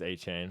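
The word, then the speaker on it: Achane: First on the list, we got Devon Achain, baby. Or Achain. How do you pronounce that name? It's Achain.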